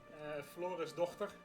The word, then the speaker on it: Florisdochter: We got Adela, Florisdochter. Yeah, and you got the authentic pronunciation here because I'm Dutch. Florisdochter. You know, if you have a potato in the back of your head and in